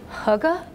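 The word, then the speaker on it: hygge: very rarely pronounce properly it's hugga with whom lies and I think I'm supposed to say that more gutturally but this accent doesn't go there and and it's a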